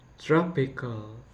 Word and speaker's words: tropical: The second one is tropical. The stress should be the stress is only for the tropic, like tropical I mean tropical.